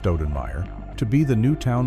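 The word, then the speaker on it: Stoudenmire: A lawman named Gus Kremer, who was pronounced Cremer, hired a man named Dallas Stenmeer, pronounced Stenmire, to be the new town marshal.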